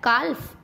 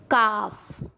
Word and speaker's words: calf: एफ से पहले, अब ये मैंने एफ भी बताया था ना, एफ से पहले जैसे CALF काल्फ, नो नो नो। काफ, हाल्फ, नहीं नहीं नहीं, हाफ।